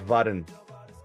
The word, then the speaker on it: Varun: probably nail it, but his wife actually does cringe that we call him Varun. She does not like that pronunciation. Is it Varun? Or is it It's Varun. Varun? Yeah, there's Okay. like a subtlety to it.